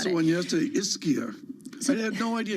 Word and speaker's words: Ischia: I mispronounced the one yesterday, Ischia.